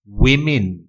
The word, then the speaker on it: women: wolf wolf woman woman ถ้าเป็นผู้หญิงหลายคนต้องออกเสียง women women สะกด W O M E N ออกเสียง women women X X จริงๆแล้วตัว X